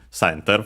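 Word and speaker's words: センター: center from English. Uh should be accent on the first syllable.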